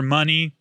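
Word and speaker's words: munny: Kingdom Hearts calls it money but they spell it like mu n n i No I think it's it's money like honey is misspelled in Winnie the Poo that's the joke I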